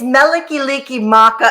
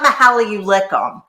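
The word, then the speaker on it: Mele Kalikimaka: how I pronounce it that's not how you pronounce it how is it said VTO you're such an expert how many you lickum it's melik licki Maka it's the Hawaiian Christmas song it's not Mahal you lickum Mahal that's not how it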